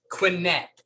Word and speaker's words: Quinet: i want to make sure i say it quinette now we met at our good friend george